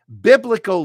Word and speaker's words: biblical: In my private group, Biblical Denise wants to know how to pronounce biblical. It's a three-syllable word. You put the stress on the first syllable. Bum, bum, bum. Biblical.